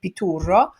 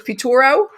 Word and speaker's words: Piturro: for the most part pitura uh i know i'm saying that with a very strong italian accent if you'd like to say how you say it in english pituro yes can you